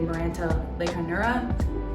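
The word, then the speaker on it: Maranta leuconeura: took a while ago this is my variegated miranta lake hanura that's how you say it and i put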